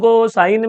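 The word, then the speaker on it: cos: बोलकर तो दिखा, मैंने प्यार से बोला ना, कॉस बोल ना, कॉस। कॉस बोला तो ऐसा एस बाहर आता है। सो कॉस में बायट मत करो, कॉस के प्रोनाउंसिएशन में एस आता है।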